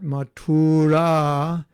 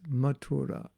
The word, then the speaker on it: Mathura: basically saying the word it's not matura it's mathura anyway i probably won't even